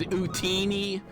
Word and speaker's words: Utini: Love you hearing being corrected on pronunciation, right? It's Utini.